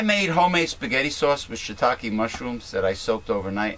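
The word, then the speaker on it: shiitake: know Shish no it's shitake it's uh it's probably the Japanese way of pronouncing it but uh there's a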